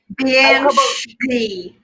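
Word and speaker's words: bean sidhe: Banshee. Can you please type that out? It's BEANSIDHES, 2 words. What? Yeah. So like bean, like the word bean, but pronounced differently.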